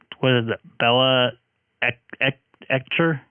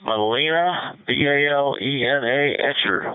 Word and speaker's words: Balena Etcher: And he uses Bella Etcher software. I can't even pronounce it right. Yeah, it's Balena, Balena Etcher, one word.